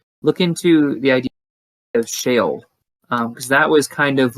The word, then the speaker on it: Sheol: everybody else listening, look into the idea of Sheol, because that was kind of like the more ancient Jews' view of the afterlife. What's it called again? Sheol.